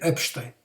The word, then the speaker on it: Epstein: so not absolutely not epstein epstein this is the correct pronunciation otherwise it would be